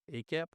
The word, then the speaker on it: AACAP: Adolescent Psychiatry, or AACAP, or as I learned, often pronounced as ACAP.